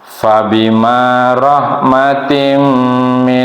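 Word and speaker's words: فَبِمَا رَحْمَةٍ: kita perhatikan bersama ya Kebiasaan kalau orang Sunda Fah itu dibacanya Pak tapi harus Faya F ya fabimarohmatin Allah di sini tanwin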